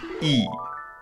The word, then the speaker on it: y: word for and is e that is simply spelled with a letter y but it's pronounced like the english double e like the word see or b b